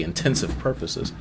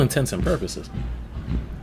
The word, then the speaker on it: intents and purposes: say it now cuz I used to say intensive purposes and someone corrected me in the comment section. Um, for all intents and purposes, if there was like